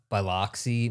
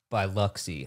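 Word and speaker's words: Biloxi: Mississippi Golf Coast Marathon we said the word b baloy Mississippi and someone comment it is pronounced by luxie lock is something you put on a bagel and I'm like that's literally exactly the word that's in the word it's Lo locks is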